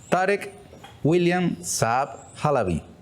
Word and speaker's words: Tarek William Saab Halaby: Tarek William Saab Halaby. Bienvenido. Muchas gracias, Ernesto, por la oportunidad. ¿Lo pronuncié bien? Lo pronunciaste bien, primera vez que nombran los dos apellidos.